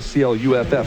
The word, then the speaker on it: Clough: James Clough found that out at CLUFF is the way you say Clough. Clough. Yeah, Clough. Oh, Clough. Okay. Yeah. Like it. CLOFF, right? James Clough. Yeah. Like Fifth. Clough, only Clough.